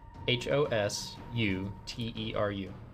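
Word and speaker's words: ホステル: Cuz they don't pronounce their L's and so they pronounce it with an R.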